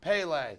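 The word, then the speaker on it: Pelé: set yes guys and I have confirmed it's pronounced Pele okay here's Dietrich and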